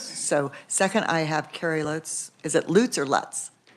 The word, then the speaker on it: Lutz: I'm Carrie Lutz, as I just mispronounced my own which name. is it? It is Lutz.